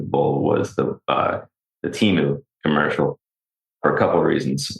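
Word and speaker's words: Temu: My favorite commercial from the Super Bowl was the uh the Teeu commercial for a couple reasons. One, I didn't realize it's actually pronounced Tenu.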